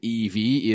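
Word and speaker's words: Evey: that introductory monologue yes V notes that Evy name is special pronouncing it as Evie is the fifth letter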